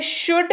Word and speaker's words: should: अगला शब्द है शुड, SHOULD, इसकी स्पेलिंग होती है, L साइलेंट रहता है।